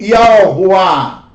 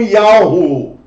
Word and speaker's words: YHWH: Eu, na verdade, dou a pronúncia para YHWH, o Yud Rei Vav Rei, como Yahuwah. Alguns irmãos dão como Yahu, outros dão como Yahu, outros dão como Yau. Olha, irmãos, na verdade, outro como Yah.